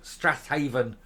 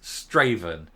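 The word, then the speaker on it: Strathaven: first did the story I pronounced her um constituency uh as East killbride Strath Haven and leso and of course my pronunciation was corrected in the comments uh it's absolutely obviously right because it's straven uh it's not somewhere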